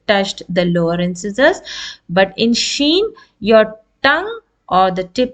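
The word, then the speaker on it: شين: roof of the mouth but your tongue in the middle should be raised a little bit Sheen this is how we pronounce letter Sheen and it is a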